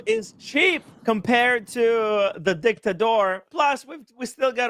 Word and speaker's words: Dictador: like I'm impressed that Timmy's finally saying dictador instead of dictator.